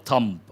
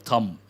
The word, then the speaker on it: thumb: Rule of thumb, an important one. Rule of thumb, B is silent.